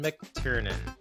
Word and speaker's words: McTiernan: This week's movie, Die Hard, released near 1988, directed by John McTiernan. Did I pronounce that correctly?